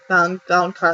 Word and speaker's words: Valonqar: Valonqar, that's how you say it, right?